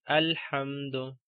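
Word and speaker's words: الحمد: Okay, we have this alif in the start, okay, or hamzatul wasl in the start, so we have to pronounce it like alhamdu.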